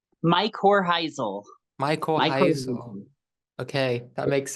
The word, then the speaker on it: Mycorrhizal: I think I'm pronouncing that correctly. Mycorrhizal.